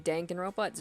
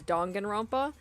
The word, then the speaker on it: Danganronpa: it makes me realize all this time I've been saying it wrong I've been saying dank and robots danganronpa I've only been playing like